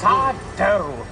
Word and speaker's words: sourdough: That's sourdough. No, mister. Accent on the dough.